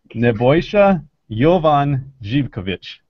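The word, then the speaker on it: Nebojša Jovan Živković: It is Nebojsa Jovan Zivkovic is the correct pronunciation.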